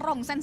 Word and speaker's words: Rongen: Ini Rongen atau Rongsen sih cara bacanya? Rongsen kali ya. Rongsen harus tumbang. Rongen. Rongen ya. Sesuai aja gitu. Sorry Betul, ya. latinin aja. Rongen aja ya.